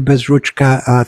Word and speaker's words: Bezruchka: pronouncing my name correctly it's uh Ukrainian as well rch is is a big is an important part of it yes absolutely well ask